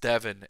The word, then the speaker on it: Devon: Zim versus investing in Devon stock Devin stock I should say as one of my viewers pointed out it's pronounced Devin and not Devon thank you if you're